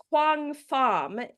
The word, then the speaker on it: Quang Pham: it so KP Pai and and you play Quang F in season two of Interview with the Vampire